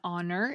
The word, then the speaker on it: honor: The difference comes up a lot with the letter H, just like in the caller's question. An honor is correct, because even though honor starts with an H, which we think of